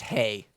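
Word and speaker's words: Haigh: lean on pete from andrew heigh do you know how to say his name no okay what's it's just hey hey h-a-i-g-h which is funny because hey it's for horses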